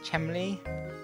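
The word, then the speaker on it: Chelmey: rather tragically an inspector chemily i think it's pronounced chemily i'm not really sure it's spelt chumley someone in chat probably knows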